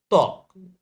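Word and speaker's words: ত্বক: শব্দের আদিতে ব ফলার উচ্চারণ হয় না। মনে রাখতে হবে শব্দের আদিতে কিসের উচ্চারণ হয় না? ব ফলার উচ্চারণ হয় না। যেমন দেখো তক।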